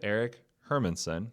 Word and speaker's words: Erik Hermansen: So today on the program, I have Erik Hermansen.